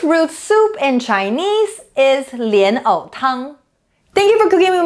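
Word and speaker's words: 莲藕汤: the word of the day today is lian o tang lotus root soup the first two character lion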